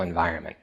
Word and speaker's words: environment: So the N is silent. You don't pronounce the N.